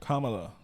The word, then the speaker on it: Kamala: It's like comma, like a comma, with the la on it. Kamala.